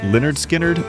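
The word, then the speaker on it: Lynyrd Skynyrd: 1973 pronounced Leonard Skinnard by Leonard Skard.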